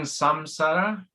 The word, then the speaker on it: samsara: not saying that right how do you say that surviving samsara samsara s-a-m-s-a-r-a samsawa is the